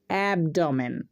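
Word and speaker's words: abdomen: ম্যান অ্যাপ ড ম্যান অ্যাবডোমেন মানে তলপেট বা পেট তাহলে দেখো এই ওয়ার্ডটার মধ্যে তিনটি ভাওয়েল পেয়েছিলাম তাই আমরা তিন ঝোঁকে উচ্চারণ করলাম চলো আমরা আরো উদাহরণ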